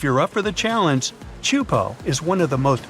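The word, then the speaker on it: Teahupoʻo: Chupo in Tahiti also has some of the heaviest waves in the world, breaking over a shallow reef and creating intense barrel rides.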